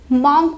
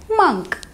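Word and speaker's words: monk: अब जो हमारा फिफ्थ वर्ड है, हम इसको इसकी स्पेलिंग की वजह से मॉन्क प्रोनाउंस करते हैं, जो कि गलत है। इस वर्ड की सही प्रोनाउंसिएशन है मंक, मंक।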